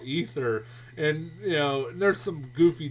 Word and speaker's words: Aether: being released is called ether. No joke. It's like spelled like AETHER or something like that, and it's like, really, you're calling it ether?